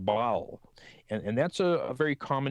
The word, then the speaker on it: Baal: in the Old Testament, is words that is pronounced Baal.